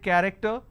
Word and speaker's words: character: you see the word character I have the letter CH and it's pronounced as curve I don't say character I say it character one last passage for